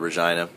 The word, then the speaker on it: Regina: won't say it correctly but it's actually called Regina and we will be going a Regina tomorrow